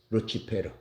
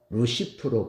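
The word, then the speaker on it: Lucifer: 그리스의 별은 에오스 플로스 에스플러스 그 라틴어는 페러 루치페르 그러면서이 루치페르 라틴어가 영어으로 번역되면서 루시퍼로 번역된 거예요 예 원래 사탄의 이름은 루시퍼가 아닙니다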